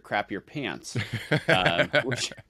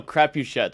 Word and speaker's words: Crapuchettes: And I think the worst pronunciation was Mr. Crap Your Pants. Yeah. And I'm like, no, Crapuchettes.